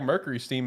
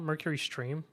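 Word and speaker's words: MercurySteam: Is it not Mercury Stream? Yeah. No, it's Steam.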